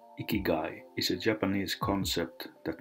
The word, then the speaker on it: ikigai: and drink a little less beer ikigai pronounced ikigai is a japanese concept that means a reason